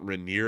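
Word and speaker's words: Rainier: out to Seattle and she said Mount Reneer and then I felt like an idiot instantly because I was like, I've been saying it wrong the whole time I've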